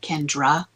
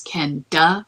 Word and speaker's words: Kenda: his lawyer I mean my name isn't Kendra it's Kenda and everybody says Kendra and I'm sure it